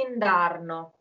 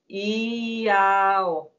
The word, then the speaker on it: indarno: Indarno, this is a word that you will never hear because nobody pronounces the consonants here. It's very hard, obviously, because of the melody. But if you listen to how it is sung, you will never hear indarno. You would hear iao. That's what you hear.